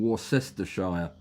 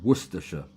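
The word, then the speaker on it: Warwickshire: Greetings from Warsshire. That's not how you pronounce it. It's Worersha.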